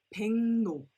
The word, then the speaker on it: 백로: So for example, 백로 is not pronounced as 백로, but 백로, 백로. 팽 with the NG sound, and N-O, no, 백로, 백로.